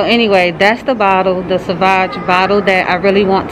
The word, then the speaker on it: Sauvage: Sauvage, that's how you say it. Sauvage, yes.